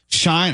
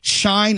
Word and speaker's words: Shein: We mentioned both Shine. I guess that's how they pronounce it.